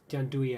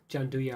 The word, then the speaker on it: gianduja: So the gianduja or whatever you want to pronounce it. Gianduja, I think, is the way you pronounce it actually.